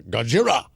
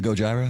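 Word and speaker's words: Gojira: event Sevenfold and uh goira at the Rose Bowl is that how you say it Christian that's not how you say it how do you say it uh gojra I believe it's gojra Gyra I was okay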